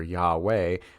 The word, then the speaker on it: Yahweh: The Torah and Jewish tradition hold that God's name is something similar to what we pronounce in English the vowels Y-H-W-H, or as I made reference to earlier, Yahweh, which is what we think to be the correct pronunciation of the name of God.